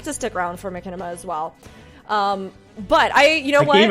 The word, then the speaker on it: machinima: with me knowing that I pronounce it Machinist. Machinist. I mean, so is it Machinima now? Is that what's going on? I mean, I'm pretty sure isn't it Machinima technically? Yeah, it's Machinima. Machinima.